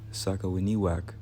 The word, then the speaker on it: Sakawiniwak: The name Sakawiniwak, pronounced Sa-ka-wi-ni-wak, translates to people of